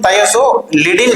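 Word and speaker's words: Thiazolidine: செகண்ட்ல எதுவுமே இல்ல பட் இதுக்கு நாம எப்படி உச்சரிக்கணும் தயோசோ லிடிங் அப்படின்னு உச்சரிக்கணும் ஓகேங்களா நெக்ஸ்ட் பாருங்க மூணு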